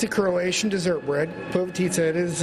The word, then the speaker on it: Povitica: Povitica. Yes, that's how you say it, Jane, he's saying.